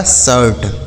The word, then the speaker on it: shirt: ठीक है, तो अगर आई के साथ आर लिखा होगा तो आई का उच्चारण आ हो जाएगा, जैसे bird, firm, चर्प, शर्ट, डर्ट, हर्ट।